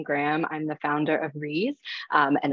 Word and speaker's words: Ries: I'm the founder of Reese, and it's pronounced like please, whenever you see the word.